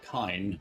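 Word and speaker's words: Kain: And K says, I keep forgetting that that's technically how Kane's name is pronounced.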